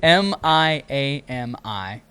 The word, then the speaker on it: Miami: Wait, spell it again. M I A M I.